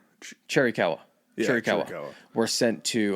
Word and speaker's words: Chiricahua: Yeah, so eventually he does end up surrendering to Gatewood, and the remaining Chiricahua, did I pronounce that right? Chiricahua.